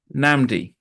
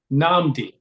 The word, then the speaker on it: Nnamdi: Nnamdi. Namdi. Yes. So the first N is silent. In most ways, I tell people it's like saying Aaron.